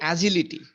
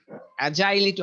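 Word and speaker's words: agility: এই যে উচ্চারণটা হলো অ্যাজিলিটি, অ্যাজাইলিটি, অনেকে বলে অ্যাজাইল, ওটা হলো অ্যাজিলিটি।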